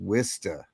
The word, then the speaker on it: Worcester: It's pronounced Worista.